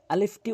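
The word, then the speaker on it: ألف: আলিফটি উচ্চারণ করার সময় উপরের দাঁতগুলো নিচের ঠোটে রেখে এভাবে আলিফ আলিফ আলিফ আপনি বারবার প্র্যাকটিস করবেন ভিডিওটি থামিয়ে থামিয়ে প্র্যাকটিস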